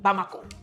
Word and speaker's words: Bamako: is some miles away from the capital B bamako that's how you pronounce that bamako um a few hours later president Kita which